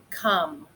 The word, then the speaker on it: come: It looks like om with a magic E, but it says come. So it's one you just have to remember how it's spelled.